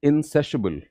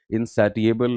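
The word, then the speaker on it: insatiable: Next word is इंसेसिबल. इंसेसिबल adjective है. Pronunciation पे ध्यान दीजिए. इनसैटिएबल नहीं बोलना है, राइट?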